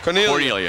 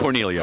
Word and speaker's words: Cornaglia: The ball was intended for Jason Cornaglia. Am I pronouncing that right, Bill? Cornelia. It doesn't sound like it's spelled. No right. G. There is a G, but there's no G pronounced. Silent. Cornelia.